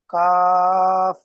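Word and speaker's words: ك: এই দুইটি অক্ষরের উচ্চারণ কিছুটা একই। তো এর জি, মধ্যে পার্থক্য হলো এই কফ অক্ষরটি মুখ গোল করে পড়তে হবে, কফ। আর কাফ অক্ষরটি সাধারণভাবে, কাফ।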